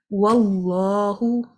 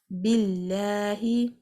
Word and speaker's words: Allah: If this word has a fatha or a dhamma before it, the lam in the middle is pronounced heavily. But if it has a kasra before it, the lam will be pronounced lightly.